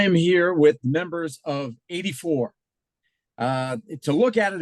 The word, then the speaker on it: A.D. 4: right so I am here with members of 84 uh to look at it it's like ad4 like the year of Our Lord four but it's pronounced 84 am I am I right guys yes I